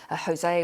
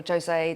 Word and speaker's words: Jose: which of course has Hurricane Jose or Joe say depending on how you pronounce it and following closed